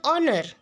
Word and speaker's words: honor: Students, in the word honor, the first letter H is silent and the word begins with the vowel sound O.